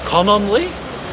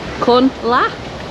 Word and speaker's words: Cononly: Cononly? Cunla?